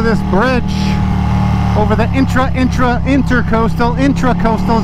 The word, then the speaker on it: intracoastal: bridge over the intra-intra-inter-coastal intracoastal is how you say it intra not enter metaverse metroverse i want